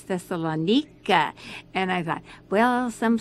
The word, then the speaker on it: Thessaloniki: went to thessalonica and they don't pronounce it thessaloniki it's thessalonika and i thought well